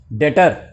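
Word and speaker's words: debtor: तो ये हो गया डेटर, बी साइलेंट है ध्यान रखना, और ये हो गया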